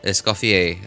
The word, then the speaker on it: Escoffier: Escofier is from what I understand to be pronunciation of her name.